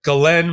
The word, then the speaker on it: Ghislaine: And his girlfriend / business partner / whatever, Ghislaine, or I just heard her name pronounced by her lawyer, Ghislaine Maxwell, as outlined by the